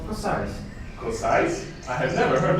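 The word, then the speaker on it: Košice: We saw something about a place called Kosice. You pronounce it wrong. It's pronounced Kosice.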